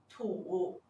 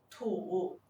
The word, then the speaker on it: 土: 土的拼音是土，土，它的声母是 t，韵母是 u，声调是第三声。